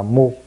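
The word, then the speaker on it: 無: không vô vô là không và tiếng Nhật đọc là MU từ cái cái thế kỷ đó cho đến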